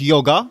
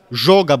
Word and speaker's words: Joga: Ligę chciała zawojować Joga, bądź jak powinno się wymawiać prawidłowo, Żoga Bonitu, która jednak przegrała najważniejszy mecz z Bożykowem.